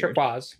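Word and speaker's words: Turkuaz: Like, yeah, it's Turquaz. It's spelled all weird. Turquoise.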